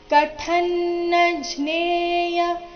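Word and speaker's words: ಕಥನ್ನಜ್ಞೇಯ: ಪಾಪಾದಸ್ಮಾನ್ವರ್ತಿತುಂ ಕುಲಕ್ಷಯ ಕೃತಂದೋಷಂ ಪ್ರಪಶಯಭಿರ್ಜನಾರ್ಧನ ಕಥನ್ನಜ್ನೇಯ ಇಲ್ಲಿ ಕಥ ಮಹಾಪ್ರಾಣ ರಸ್ವ ಬರಬೇಕು ಮುಂದಿನ ಅನುಸ್ವಾರದ ಉಚ್ಚಾರಣೆ ಅನುನಾಸಿಕ ನ ರೀತಿ ಕಂಸದಲ್ಲಿ ಕೊಟ್ಟಿದ್ದಾರೆ ಕಥನ್ನಜ್ನೇಯ ಮಸ್ಮೆ ಮ ಮೇಲೆ ಆಘಾತ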